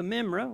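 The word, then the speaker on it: Memra: The Mimra, which is the word, and that's how you say it in Aramaic, is to be worshipped, served, obeyed, spoken to, and prayed to as God.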